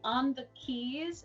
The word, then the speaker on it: On the Quays: On the keys, it's spelled like on the QUAYS.